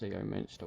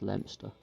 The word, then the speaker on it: Leominster: It's not pronounced Leominster. Well, at least the place, this is in the UK, this town is named after. It's not pronounced Leominster, it's pronounced Leominster.